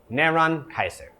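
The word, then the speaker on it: Νέρων Καῖσαρ: So this is how you say Nero's name in Greek. Neron Kaiser.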